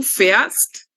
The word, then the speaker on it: fährst: fahren, perdón, es du fährst y sie es fährt, ¿ok? Porque le vamos a colocar una A umlaut y lo vamos a pronunciar como si fuera una E, ¿ok?